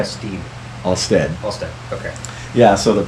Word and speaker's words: Alstead: Is that how you pronounce it? That's right. Alstead. Alstead.